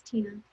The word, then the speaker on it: Tenna: just my name it's tina my name is spelled a little strange it's uh t-e-n-n-a and my last name is t-o-r-r-e-s so it's like tenna it's tina um yeah so that's